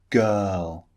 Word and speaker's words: girl: The first vowel sound, girl. The R in girl is not pronounced.